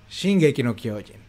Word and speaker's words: Shingeki no Kyojin: bien El poder del titán de ataque cuya pronunciación en japonés es shing K no kyen que da nombre a toda la obra El